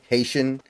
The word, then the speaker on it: Haitian: the picture of the uh how do you pronounce it haian haenan Haitian okay it's it's it's a it's the Haitian